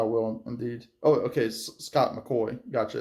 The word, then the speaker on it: McCoy: Oh, okay, Scott McCoy. Gotcha, it's pronounced McCoy.